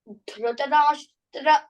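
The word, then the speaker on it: धृतराष्ट्र: Say Dhritarashtra power. Dhritarashtra That you give little power. R. So this is one word. Okay. One word is Dhritarashtra you will work on.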